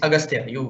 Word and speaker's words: Agastya: Agastya? How do you pronounce your name, my dear sir? Yes, sir. It's Agastya.